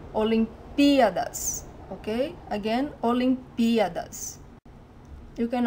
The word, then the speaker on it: Olimpíadas: hear wrong, is that the stressed syllable, the stronger syllable, is this P, Olimpíadas. Because if you put the emphasis in the A, Olimpíadas, it sounds wrong, it's wrong, it's really strange.